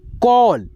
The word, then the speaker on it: call: तो यहाँ पे देखिए ए का जो उच्चारण है ओ में आएगा, ऑल, ऑल, ठीक है। जैसे यहाँ पे देखिए CALL, कॉल, क्या पढ़ेंगे, कॉल, ऐसे कॉल, कॉल, ठीक है।